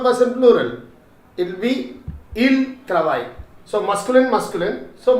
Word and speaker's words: ils: Both of them mixed together will be again ILS, il form. Okay, il. You should not pronounce it as ils, okay, it is il.